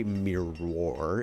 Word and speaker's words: mirror: Because we don't say mirror, and it's really awkward for me to say that. We say mirror. It's a mirror. I fix my hair in the mirror. It's one syllable, mirror.